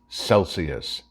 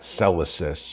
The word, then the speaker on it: Celsius: Tlaib, it's pronounced Celsius, not Celsius, or however you mangled the word.